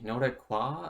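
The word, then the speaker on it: Nordiques: the no deex or the no that qua i think that's what it's actually called because i believe the s is silent but it's it's a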